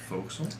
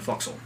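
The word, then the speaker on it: fo'c'sle: the quarter deck and the foxel mhm which I think that's how it's pronounced foxel there's two apostrophes in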